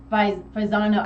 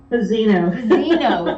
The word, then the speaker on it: Fazzino: Fazzano. I keep saying it wrong in my head. Fazzino, thank you. I'm getting the A and the I mixed up, and I do it every time.